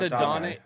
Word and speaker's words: Adonai: It's Adonai, but he goes by A.D. Mitchell. He's listed by as A.D.